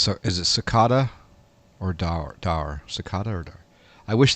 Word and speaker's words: Daher: As far as I can tell, daher is pronounced daher.